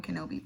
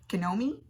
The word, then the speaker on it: Kenobi: We call each other Homie-Wan Kenobi, like Obi-Wan Kenobi from Star Wars. But Jess sometimes has never seen Star Wars. And she just tends to say, Kenomi? Because it rhymes with a homie.